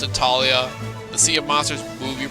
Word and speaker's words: Thalia: that the H isn't there's no h in that name so that that was